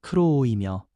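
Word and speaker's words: κρούω: 여기서 두드리다라는 헬라어 발음은 크로오이며 계속 두드리며 인내하는 모습을 담고 있습니다.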